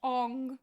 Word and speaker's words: Aang: especially with our main protagonist, Aang, the Avatar. It's pronounced Ong.